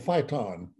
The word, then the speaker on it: phyton: So there's a natural chemical in all plants, including trees, called phyton, P-H-Y-T-O-N. Pronounced as like fight on, but spelled P-H-Y-T-O-N.